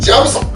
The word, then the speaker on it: jyam sau: Pillow hand (jham sau).